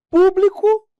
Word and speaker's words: público: Ó, público, publico. Público um adjetivo, ou um substantivo, ou público, e o verbo.